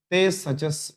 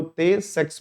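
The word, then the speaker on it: Tay-Sachs: ये आपका है सचस बोल देते हैं, कई लोग तो है जो ते सेक्स बोलते हैं, तो देख लेना आप लोग अपने अपने प्रोनाउंसिएशन के हिसाब से है।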